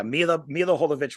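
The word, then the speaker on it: Milla Jovovich: Mila Jovovich will never change. I even pronounced her name correctly.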